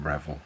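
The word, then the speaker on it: Revell: and see what I get these are um reval you pronounce it with Revel I never hit so but they're the ones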